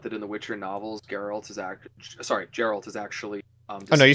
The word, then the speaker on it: Geralt: Weren't you the one that pointed out that in the Witcher novels, Geralt is actually... Oh, no, you said it right the first time. Yeah. I did? Yeah, yeah. Geralt.